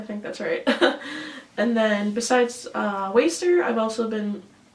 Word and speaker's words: WSTR: this band a lot called waster but it's spelled like wstr they're from Liverpool here